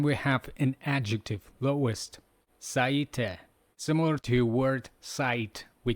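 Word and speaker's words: 最低: Seeing this vividly in our mind, let's pronounce with energy. Yoso, yoso, yoso. Then we have an adjective, lowest, saite.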